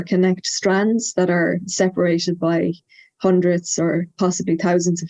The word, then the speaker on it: Badhbh: name again it's uh it's spelt b-a-d-h-b-h there's there's different spellings but it's pronounced by um so uh and